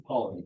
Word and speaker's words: Ptolemy: No one pronounces the P? No, it's Ptolemy, yeah.